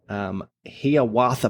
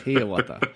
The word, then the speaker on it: Hiawatha: Hiawatha Pioneer Trail in Illinois, USA.